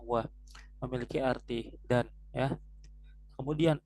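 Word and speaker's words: و: Nah, wa tadi ya, walaupun dia cuma satu huruf tapi dia tidak dibacanya wow, tapi dibacanya wa, memiliki arti dan ya.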